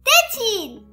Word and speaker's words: tétine: Le E, elle est muette.